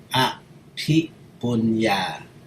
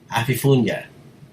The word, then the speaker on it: Aphiphunya: The Thai pronunciation is Aphiphunya. But most Europeans, ever since 10 years old, all my foreigner friends was always say Aphiphunya.